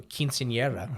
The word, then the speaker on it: quinceañera: Like, if someone has tuberculosis, you're not going to invite them to a quinceañera. Yeah. If you've got, Quinceañera. For those of you who speak Latin. They want to roll your R's.